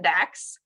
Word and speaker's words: DAX: He is the Deputy Associate Administrator for Exploration, pronounced that DAX.